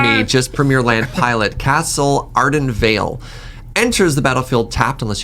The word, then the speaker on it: Castle Ardenvale: First one, Castle Ardendale. This is the white land. I told you, premier land pronouncer is not me, just premier land pilot. Castle Ardenvale.